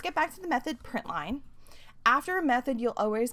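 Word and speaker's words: println: the p r i n t Ln it's pronounced print line that is found in the system class the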